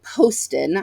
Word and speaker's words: Poston: dead Romantics by Ashley Poston I did look up how you say her name she has it on her website it's posted like post it but with an Owen um I picked this